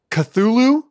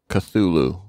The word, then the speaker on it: Cthulhu: have to cut it ben how do you pronounce that lovecraft monster's name cthulu cthulhu cthulhu cthulhu this took me by surprise i awaited